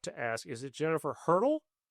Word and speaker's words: Hertel: I used to always tell people it's like the track instrument, just not spelled the same.